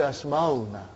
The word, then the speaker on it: Asmauna: Because if you say Ismuna, that is wrong. You will have to say Asmauna.